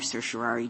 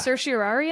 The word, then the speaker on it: certiorari: and then sometimes I certiorari. Certiorari. Well, it's really that question between 4 syllables and 5, right? There's certiorari, and then there's certiorari. Like you can have that O in the middle.